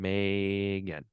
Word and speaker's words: Magen: right right right so Megan did admit and just so you know her name is spelled the strangest way every time I look at it m-a-g-e-n but it's pronounced Macon I mean Megan yeah that is quite